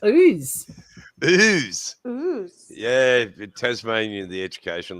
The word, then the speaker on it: Ouse: __ ] names too how do you pronounce this one o u s e pretty sure i did a live stream on pronouncing australian pounds i'm not even going to touch that use no it's ooze booze yeah tasmanian the